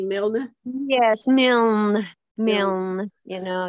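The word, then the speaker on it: Milne: your name is mil how do you pronounce it m i l n e mil yes mil mil you know yeah good funny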